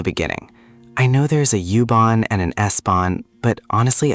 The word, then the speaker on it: U-Bahn: Die U-Bahn. Die U-Bahn. Nice, clear and confident. The pronunciation is pretty straightforward. Just remember that the U sounds like oo in English.